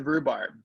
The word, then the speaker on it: rhubarb: All right, let's start with rhubarb. Do you know what rhubarb is? Have you had a rhubarb pie? I'm familiar. I can spell it. H-R-H-U. It's got a silent H in there.